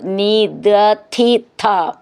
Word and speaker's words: നിദധിഥ: അവിടെ ശ്രദ്ധിച്ചോളൂ, ഒന്ന് ദ എന്ന് ദയിലത്തെ ദ എന്നാണ്, ധി എന്നുള്ളതിൻ്റെ ധ എന്ന് ധനത്തിൻ്റെ ധ എന്നാണ്, ഥ എന്നുള്ളത് രഥം എന്നൊക്കെ ഉള്ളതിൻ്റെ ഉച്ചാരണം വ്യത്യാസം ശ്രദ്ധിച്ചോളൂ. നിദധിഥ.